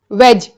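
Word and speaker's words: wedge: वेज। इसके pronunciation में भी ड का प्रोन्सिएशन नहीं है। वेज यह वी ई जी वेजिटेरियन वाला वेज नहीं है। यह है डब्ल्यू ई डी जी ई जिसका मतलब होता है कील लुमा चीज़।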